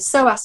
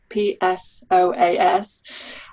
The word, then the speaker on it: psoas: about um the kidneys being related to the psoas muscle yeah so if anybody wants to look this up it's spelled p-s-o-a-s um and the psoas muscle holding a lot